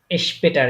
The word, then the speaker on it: später: später স্পেটার, একটু আগে বলছিলাম যখন এসপি একসাথে শুরু, শব্দের শুরুতে বসবে তখন এটা শ এর মতো উচ্চারণ হবে।